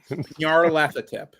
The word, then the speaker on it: Nyarlathotep: Nyarlathotep. Nyarlathotep. Like it's spelled.